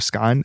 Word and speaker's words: skein: infinity symbol, it's called a skein or a skein. I think Yes. it's pronounced skein based on how it's spelled.